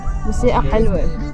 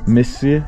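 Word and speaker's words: موسيقى حلوة: Musi'a halwe. Missi? Musi'a. Say mu. Musi'a halwe. Yeah.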